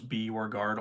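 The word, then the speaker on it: Bjorgaard: of a joke because I always explained to people how to pronounce my last name was b or guard all one word so when I started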